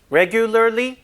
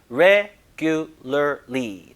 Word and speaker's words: regularly: regularly, 발음이 좀 어려워서 그렇죠?